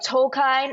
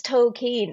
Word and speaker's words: Tolkien: That scene in the movie where he's like, Tolkien, actually it's Tolkien. So I feel kind of weird. I almost feel pretentious being like Tolkien. Yeah, we know how it's actually pronounced.